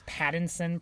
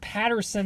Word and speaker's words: Pattinson: Noah, have you not realized that he can't even pronounce Pattinson properly?